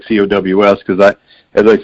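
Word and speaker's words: Coues: uncle elliot on down the families always pronounced her last name as cows just like a bovine so i would much rather pronounce it coos because i i think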